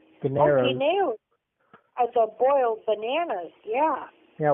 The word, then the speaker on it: guineos: Ganeros. Oh, guineos.